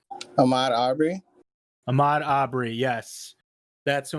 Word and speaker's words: Ahmaud Arbery: Oh my god, I can't pronounce his name. The man who died in Georgia. Does anybody remember his name? Ahmaud Arbery.